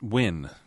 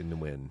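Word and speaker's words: Nguyen: Uh, it's win. W. I say Nwin. Yeah, it's Yeah, I was told years ago it was win.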